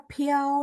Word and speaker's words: 飘: Baru saya tahu, oh ternyata dia bacanya piau nada satu.